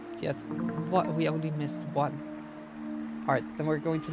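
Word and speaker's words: を: Next one is this one. Oh. The o, which is usually pronounced as o, but you write it as wo.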